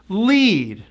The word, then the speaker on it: lead: Lead. Now you change the vowel sound of that word and it has an entirely different meaning. As in egg.